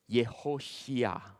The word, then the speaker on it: Yehoshua: So the actual name of Joshua, make a guess, is called Yehoshua. So Yehoshua, son of, okay, it is pronounced as Nun, not Nun.